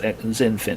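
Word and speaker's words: XinFin: n or xdc and you'll find it zenfit's pronounced zenfin is how it's pronounced but just just look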